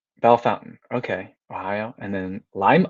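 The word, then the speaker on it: Bellefontaine: this game oh awesome bellafontaine ohio is pronounced belle fountain lima ohio lima ohio is pronounced lima okay bellefonten bell fountain okay ohio and then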